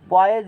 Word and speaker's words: Poiseuille: तो लगता है ना पॉयजूले हिंदी में पढ़ेंगे, लेकिन वहाँ पढ़ा जाता है पॉयजे पढ़ा जाता है, साइलेंट से, ठीक है।